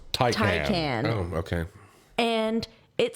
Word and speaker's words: Taycan: we were driving down the road and I saw one of the Porsche Take hands. Taycan. Apparently it's pronounced Taycan.